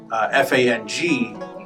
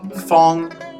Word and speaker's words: Fang: see on your roster, which would look like Fang, F-A-N-G, Feng. Feng means square, so Feng, F-A-N-G, is not like Fang. No. And then there's also F-E-N-G, which is more Feng.